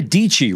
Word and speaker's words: Dietschy: Sara Dietschy rhymes with Peachy, who recently skated through the B&H Superstore, joins us next along with Kraig Adams and Ollie Ritchie.